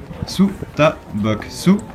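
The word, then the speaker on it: 스타벅스: Donc on peut concrètement y lire Su Ta Bok Su Coffee, qui est la prononciation littéraire de Starbucks Coffee en coréen.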